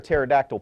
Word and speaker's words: pterodactyl: So the jokes that Tinsley prepared for me today is, one, why can't you hear a pterodactyl pee? Because the P is silent.